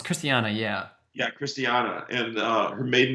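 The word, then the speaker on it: Christiane: name is christina uh it's chris i can't pronounce christian it's cristiano it's christiana yeah yeah christiana and uh her maiden name was harlan and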